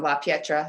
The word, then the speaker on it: La Pietra: You said you were at a very traditional track, college track type of school environment after, I'm going to say it wrong, La Pietra.